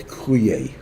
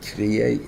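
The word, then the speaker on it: קרואי: It's spelled with a small yud. And it's read Kruye. Not Kriye, it's read Kruye.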